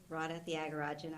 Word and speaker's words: Radha Thiagarajan: My name is Radha Thiagarajan.